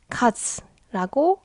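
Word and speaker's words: 数: 표현 자 예를 들면이 한자는 혼자 있으면 숫자 카즈라고 발음하지만 동사가 되면 가져와요 사람 보세요 손가락으로 숫자를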